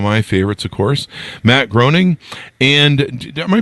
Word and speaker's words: Groening: favorites, of course, Matt Groening, and am I pronouncing that right, Matt Groening? I think he once said it rhymes with complaining. So complaining? Yeah. Groening?